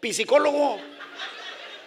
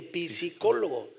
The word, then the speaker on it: psicólogo: Si gusta dejar algún recado, nada más déjenme decirle que no se dice psicólogo, se dice psicólogo, la P no se pronuncia.